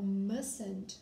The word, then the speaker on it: mustn't: Se eu usar o mustn't, mustn't, pronúncia tá com S, mustn't, mustn't.